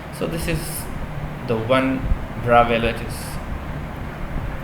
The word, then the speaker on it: Bravais: Okay, so this is the one Bravais lattice. This pronunciation is Bravais, remember, my students, okay, not Bravais.